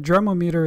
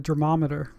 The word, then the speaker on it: Dremometer: meter type D torque wrench I believe that derma meter is the correct pronunciation even though it I'm very tempted to call it a derm ometer even though this wrench is probably over thirty